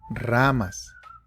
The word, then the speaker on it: ramas: Now it's okay if you're not able to roll your R's. That's completely fine. You can just say ramas. That's fine.